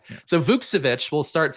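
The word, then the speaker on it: Vukčević: So Vukcevic, we'll start saying that correctly now.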